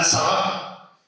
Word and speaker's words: Tzara: Tristan Tzara, o Tristan Tzara, si lo pronunciáramos con acento francés.